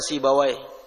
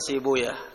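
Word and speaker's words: سيبويه: Sibawayh, ahlul lughah membaca Sibawayh. Kalau al-muhaddithun membacanya Sibuyah.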